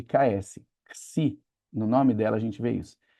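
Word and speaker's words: ξῖ: é o si, que equivale à letra X do nosso alfabeto, mas não como em xerox, no primeiro X de xerox, mas como o segundo X da palavra xerox, que ele equivale a um X quando ele tem som de ks, igual em tórax, igual em taxi, é esse som de ksi.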